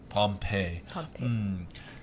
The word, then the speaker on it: Pompeii: Pompeii.